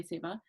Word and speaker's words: seva: were just talking about it's spelled s-e-w-a we say seva um it's the act